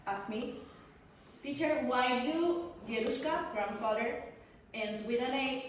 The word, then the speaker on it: дедушка: So my students ask me, teacher, why do dedushka, grandfather, ends with an A if it's a masculine word?